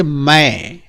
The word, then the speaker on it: मैं: यस बच्चों, तो आप देखते हैं म, दो हुंडी लगी है और एक ऊपर बिंदी, मैं।